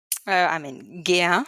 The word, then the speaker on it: GEA: So at GEA, GEA or GEA? GEA, if you want to pronounce it as GEA, the group okay. one. So it's a German Okay. company, so they like it to be pronounced in the German way.